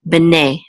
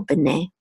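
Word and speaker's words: בְּנֵי: together will say ne, bene, bene. And this is the accent mark, so you know that the accent is on the last syllable, bene.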